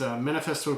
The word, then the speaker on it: Manifesto: And it's not, they spell it M-N-F-S-T-O. They kind of leave everything out, but it's Manifesto Toronto.